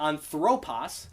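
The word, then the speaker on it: ἄνθρωπος: anthropos anthropos yes so anthropos noce it's not anthropos it's not anthropos it's anthropos because that acute is on that first syllable anthropos the next one is the grav so the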